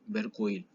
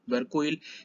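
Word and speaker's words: Vercueil: sabemos que se llama Berkuil, o Berkuel. Yo voy a pronunciar todo mal porque, bueno, pronuncio medio mal. Digamos que eso se pronuncia Berkuil, por eso lo escribí para que se entienda igual.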